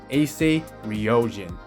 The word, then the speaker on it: Ouryumon: cannot pronounce correctly, and I will teach you guys how to pronounce the name of this card correctly today, and it's actually pronounced as Ouryumon.